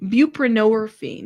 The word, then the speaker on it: buprenorphine: Pronounce pronunciation buprenorphine. buprenorphine. That's how you say that.